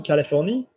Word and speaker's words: Californie: Can we pronounce it properly? En Californie.